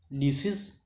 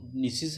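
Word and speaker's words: gneiss: ये इट is composed of granite, ठीक है गाइस, ग्रेनाइट, नीसिस, GNESIS, नीसिस। इसको कुछ लोग जेनेसिस भी बोलते हैं, बट इसका जो राइट प्रोनाउंसिएशन है वो नीसिस है।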